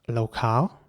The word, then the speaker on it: locale: Next up, Locale. In British English, the word would be pronounced locale, again with an R. And in American English, it would be locale with an A sound once again.